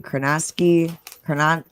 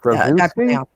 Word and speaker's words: Krasinski: John, I can't pronounce his last name. Kranansky, whatever the fuck. Krasinski?